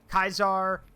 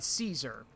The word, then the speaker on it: Caesar: people say both terminologies you will hear kaizar and Caesar here's the thing they are basically the Greek and the Roman way of pronouncing it um the basic well I take that back it's the Roman way and then there's the Modern Way the Roman way is is Kaiser but we call him